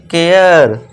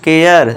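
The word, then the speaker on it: care: फिर eighth rule देखिए, जब किसी वर्ड में ए के बाद आर ई आए तो ए को एया से पढ़ना है। अब किसका साउंड देना है, एया का साउंड देना है, ए के बाद आर ई आए तो इसे क्या पढ़ेंगे, केयर, करे नहीं, केयर।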